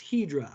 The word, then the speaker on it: Hydra: It's actually pronounced Hydra. I say Hydra because I want to help you understand the difference between these two that can be confusing.